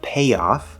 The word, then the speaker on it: payoff: Then we have payoff. Again, the spelling is AY, but it's the A diphthong. Okay, there's no Y sound here. And we're going to the ah, spelled with an O, but it's the ah, 5th vowel sound on the vowel chart.